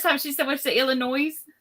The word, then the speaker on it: Illinois: she's so much to Illinois Illinois because I pronounced the yes it had an s on the end it does it does but it's silent oh how precious but